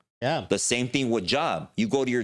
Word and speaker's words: Job: The same thing with job. You go to your job. Job is pronounced what? The correct pronunciation is Job.